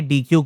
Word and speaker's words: deque: अब अगला हम लोग देखेंगे डीक्यू के बारे में। डीक्यू को डेक भी प्रोनाउंस करा जाता है।